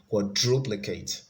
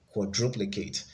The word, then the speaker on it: quadruplicate: 70 is a again quadruplicate quadruplicate the stress is on the second syllable ability the stress is